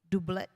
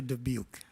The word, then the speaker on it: Dubuque: Dublet. Help me pronounce his last name. Just help me. Andrew Dubuque. Dubuque. Thank you so much.